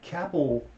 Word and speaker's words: Kappell: than tornadoes Gary Edwards it's like Kapil it's like an apple with a cane that's the way it sounds Jerry but remember it's spelled with two peas two L's as well I don't know how